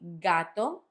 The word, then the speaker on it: gato: So ga, go, gu. The words that I'm using as example in this case will be gato, gota, and gusano.